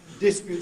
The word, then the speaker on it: dispute: As I said, 30 years ago, you never heard it, it sounded uneducated. Today, it sounds completely normal, perfectly well-educated pronunciation to use. Dispute for the noun.